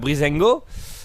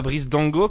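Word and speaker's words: Breezango: c'était lesouso qui affrontait brisengo et pas bris Dango comme j'ai dû prononcé hier euh bris donc céit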